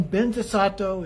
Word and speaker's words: Vajrasattva: in mind and then ben desato is actually vajrasapa the way that it's pronounced often in tibetan and then the courageous